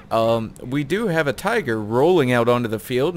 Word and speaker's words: Tiger: fan of that bridge tiger or tiger if you want to call it with the German pronunciation uh benefits of course